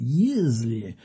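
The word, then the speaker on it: Yesley: Alors, c'est lui qui nous dit que ça s'appelle Y-E-S-L-E-Y, mais c'est lui qui dit à sa tante, prononcez Yeasley avec un Z.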